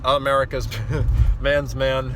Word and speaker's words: America's Man's Man: I know it's pronounced America's Man's Man.